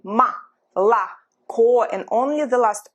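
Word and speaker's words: молоко: mala ko i say ma la co and only the last o is actually pronounced as or when it's not stressed it's pronounced as a after letter u after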